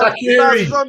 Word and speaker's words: Shaqiri: Shaqiri. Simple. How do you pronounce his first name?